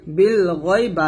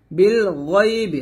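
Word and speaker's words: بِالْغَيْبِ: বালাম জের বিল, গয় নিয়ে জবর গয়, বিল গয় বা জের বি, বিল গয়বি, বিল গয়বি। এখানে বিল গায়বি বলবেন না, বিল গয়বি বলবেন, গয় মোটা করে।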